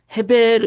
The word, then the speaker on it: 에벨: 에벨이 우리가 에벨 하면은 E B 뭐 이렇게 되지만 이제 히브리어 그 발음으로 이렇게 이제 표현한다 헤베르 이렇게 된다는 거예요.